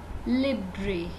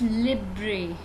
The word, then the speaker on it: Libre: Libre is the wrong pronunciation. Right pronunciation is Libre. It's Libre.